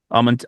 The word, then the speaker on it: Amantea: It's all of the A's are pronounced the same. Amantea? Amantea.